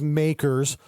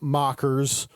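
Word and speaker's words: MACRS: and by the way it is makers not mockers or mccares i i think i've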